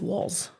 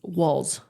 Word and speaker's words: Walz: I think it's okay I think it's walls like like like the walls you're looking at cuz it's walls walls you know what